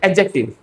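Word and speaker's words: adjective: तो इसको एडजेक्टिव नहीं कहते। इसको कहते हैं एडजेक्टिव। सिंपली डी साइलेंट है।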